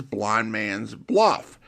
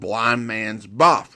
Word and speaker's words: Blind Man's Buff: While that's a common enough pronunciation nowadays, the name was originally called Blind Man's Buff with no L, which is also how it is pronounced in the episode.